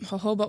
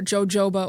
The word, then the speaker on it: jojoba: You might know them as like olive oil or um hoba oil or jojoba oil as some people like to call it or as it's spelled.